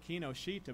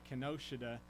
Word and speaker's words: Kinoshita: I always said it Kinoshita, but I think he pronounced it Kinoshita. Is that right? Kinoshita. And so I think I was saying it wrong over in Japan.